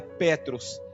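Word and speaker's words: Πέτρος: grego e a e Pedro do grego se pronuncia Petros Petros do grego significa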